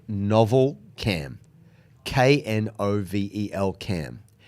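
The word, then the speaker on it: Knovel: Okay, the first one, I believe the company is called Novel Cam. K-N-O-V-E-L Cam. It's low dose. Wait, how the do you spell that? Novel, but it's the K is silent.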